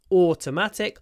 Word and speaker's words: automatic: sometimes people pronounce incorrectly they say aat or aat atic because everybody understands you you can say atic your whole life and everybody will always understand you and never correct you but it's incorrect it's not automatically it's automatic o a long o sound automatically American automatically long